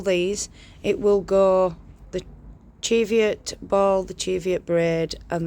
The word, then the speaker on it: Cheviot: The Cheviot, sorry, it's not Cheviot, it's Cheviot. I will correct myself. I do say it wrong. Don't pronounce it like me. It is Cheviot.